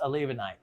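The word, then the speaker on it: olivenite: kona calci has grown up another mineral called a levonite olive that's how it's spelled a levanite so it's olive night and that's exactly how you spell it olive knight and it would be pronounced a levonite and that is another mineral that is grows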